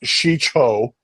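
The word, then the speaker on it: Shii-Cho: so let's see here uh form one is pronounced sheo and this is the basic lightsaber form did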